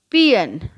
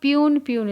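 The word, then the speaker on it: peon: पियन, हम लोग प्यून इसको बोलते हैं, बट the correct pronunciation is पियन।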